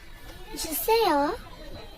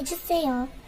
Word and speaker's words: 주세요: We say it as 주세요, 주세요, 주세요.